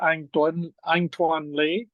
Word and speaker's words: Anh-Tuan Le: conducted in English so I'll say my name in the English version American version which is an antoan Le Vietnamese would be le and uh originally from